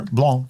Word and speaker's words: Blanc: of Red Star Premier Blanc yeast. It has a C on the end that you don't pronounce because it's French.